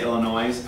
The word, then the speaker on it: Illinois: You guys, when I was in the Marine Corps and you guys say Illinois, I did the same thing. Don't pronounce S. They Illinois.